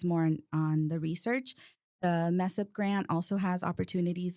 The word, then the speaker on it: MSEIP: We pronounce it mess up, MSEIP, Minority Science and Engineering Improvement Program.